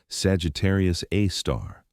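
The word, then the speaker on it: Sagittarius A*: Our own Milky Way galaxy has a super massive black hole at its center designated Sagittarius A, pronounced Sagittarius A star.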